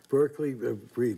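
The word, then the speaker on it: Berkeley Breathed: a legend, maybe it would be I'd say Berkeley Breathe of Bloom County. Berkeley Breathe. That's how you pronounce his name?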